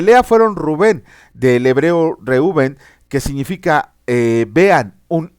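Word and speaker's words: ראובן: Vila Ajá de lea fueron Rubén del hebreo reuben que significa eh vean un hijo después nació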